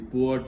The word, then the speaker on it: pu'er: The fourth category of tea is the pu'er tea. I would like to spell it as P-U-E-R.